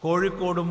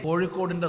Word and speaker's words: കോഴിക്കോട്: നമുക്ക് വാഴയും കോഴിയും കോഴിക്കോടും മോഴിയും പൂഴിയും എല്ലാം വഴക്കും. പക്ഷേ മറ്റു പ്രദേശത്തുള്ളവർക്ക് ഏറെ വഴങ്ങാത്തതാണ് ഏഴ. ഇന്ന് പരസ്യ ബോർഡുകളിൽ പോലും കോഴിക്കോട് കോഴിക്കോട് ആകുന്നു.